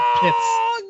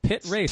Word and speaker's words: Pitt Race: He said Pitts. He said an S. Just because Mental likes to do that and spell it wrong. It's Pitt Race.